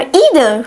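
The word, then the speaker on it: either: I don't know grammar इदर। Right? I don't know grammar इदर आइदर भी कह सकते हैं प्रोनाउंसिएशन। इंटरचेंजबल है।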